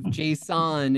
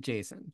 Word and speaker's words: JSON: there is a a an argument about what the correc pronunciation is no there's not you are pronouncing it correctly although I have Json ingrained in my brain and I just can't stop doing it so well the guy who invented it he calls it Jason Jason because it was actually